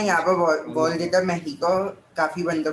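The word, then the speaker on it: México: मेहिको बोलते हैं सर, आई मेहिको नो बोलते हैं, हाँ।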